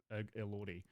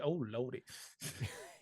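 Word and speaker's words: Elordi: very much just about Oscar Isaac and Jacob Lordy. Like so really they're just it's pronounced Jacob. Oh Lordy.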